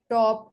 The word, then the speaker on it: top: For example, pat, top, and keel. They are the aspirated because they are pronounced with an accompanying forceful expulsion of air.